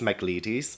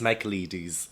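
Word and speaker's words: Michaelides: read the maidens by Alex mcleadis and that is how you properly pronounce it Alex makeleady's Alex Michael ladies Alex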